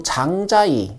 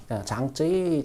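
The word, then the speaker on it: 章子怡: 이건 장예모 감독 그리고 장자이 주연 어 장쯔이라는 중국어 저기 발음으로 여러분들께서 잘 알고 계시는 장 장자이 장쯔이 장예모 어 그리고 5일의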